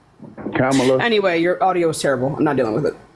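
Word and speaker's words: Kamala: kids are vote for cila and that's not how you pronounce her name cameela anyway your audio is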